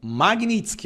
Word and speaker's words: Magnitsky: Os ministros do STF, a imprensa, a esquerda, não faziam a menor ideia do que era essa tal lei Magnitsky. Magnitsky, a pronúncia correta, tá?